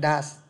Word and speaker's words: does: Từ do với he, she, it thì nó thêm es và không đọc là do nữa mà đổi hẳn thành phiên âm thành does.